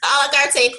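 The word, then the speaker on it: à la carte: In addition to a separate course, the a la carte, that's how you pronounce it, a la carte course that you can purchase just on inquiries, and that literally walks you through it.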